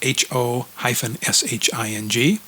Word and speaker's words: Ho-Shing: Hopefully I pronounced that right, Daryl. It's Ho-Shing.